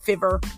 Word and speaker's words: Fiverr: can find that on Fiverr Fiverr however you want to pronounce it I pronounce it fever f-i-v-e-r-r um you can